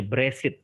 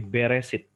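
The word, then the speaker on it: בראשית: Ada yang membacanya Bresit gitu, tetapi Beresit.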